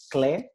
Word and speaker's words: CLE: digital city that is called clay this is the way i like to pronounce it it's obviously the acronym of culture lab europe so welcome to this